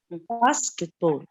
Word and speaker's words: basketball: When a noun is comprised of two words, the first syllable is stressed.